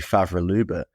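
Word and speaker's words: Favre-Leuba: five different ways already I believe it's supposed to be faval Luba but I keep wantan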